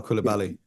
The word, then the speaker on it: Coulibaly: And the kid they drafted last year, how do you pronounce his name? Kubali? Oh yeah, Bilal Coulibaly. Yeah, Coulibaly.